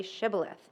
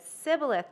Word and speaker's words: Shibboleth: If he replied no, they said, "All right, say Shibboleth." If he said Sibboleth because he could not pronounce the word correctly, they seized him and killed him at the fords of the Jordan.